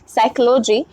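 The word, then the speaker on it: psychology: जिसमें B silent है साइकोलॉजी मनोवैज्ञानिक जिसमें पी साइलेंट है नाइफ जिसमें के साइलेंट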